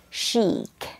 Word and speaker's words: chic: not pronounced as Czech there is no k at the end instead you pronounce this the cheek cheek it means it's stylish and fashionable shabby chic okay once again pronounces as chic that would be all